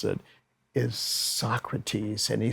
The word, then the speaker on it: Socrates: was reading something by Socrates, but he was mispronouncing it. He was calling it Socrates, and nobody really giggled, but Quincy didn't want him to be embarrassed.